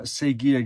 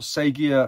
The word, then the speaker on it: Sega: The £13 Master System Sega game. Not Sega, as in I'm saying it wrong. Sega Master System.